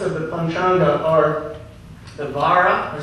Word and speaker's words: vara: the panga are the Vara or sometimes just pronounce war with like a w v and that's just